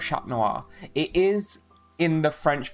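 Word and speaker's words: Chat Noir: I don't know but I do kind of prefer Cat Noir though aggressive fans will only ever call him Shat Noir. That's how you say it, Laura. That's how you say cat in French.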